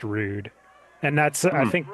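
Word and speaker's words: Rood: too easy yeah because his real name was ruu d uh but pronounced rude and that's I think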